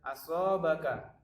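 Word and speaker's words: أصابك: Yang nomor 2 itu ada asobaka. Nah, karena ka ini berharokat fathah, kemudian dia di akhir, maka dia disukunkan. Maka cara membacanya adalah asobak.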